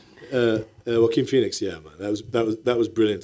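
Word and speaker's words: Joaquin: of great actors, your work on Napoleon with Jaquan Phoenix, who I'm a massive fan of. Jaquan. Sorry. Can we just How do I say it? Am I saying it wrong? Wim.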